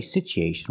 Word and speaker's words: situation: situation we don't say situation we say situ the U is pronounced with a long oo sound ooh together situ so the T makes a CH sound like chicken situ situation because there's